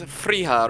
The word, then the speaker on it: Friha: It was Friha, right, Cody? That was the pronunciation.